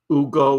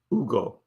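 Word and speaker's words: Hugo: Ugo is my new name. Ugo. It's spelled with an H. He says you just don't pronounce it. It's Ugo.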